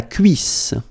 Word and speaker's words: cuisse: La cuisse. La cuisse. Double S and then two vowels before and after. It will give you a really strong S sound.